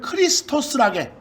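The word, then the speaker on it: Χριστός: X 닮았는데 그 애들은 키라고 읽어. 키. 그것을 그 밑에 다 설명 나왔어요. 여러분들 그리스도를 크리스토스라게.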